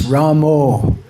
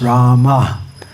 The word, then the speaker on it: Rama: So yes, pronunciation is important, and sometimes devotees say, well, Bengalis pronounce Ramo. But Srila Prabhupada was also born in Bengal, and Srila Prabhupada pronounced Rama.